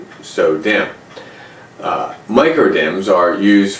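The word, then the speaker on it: SO-DIMM: a so dim or small outline dim and pronounced so dim uh micro dims are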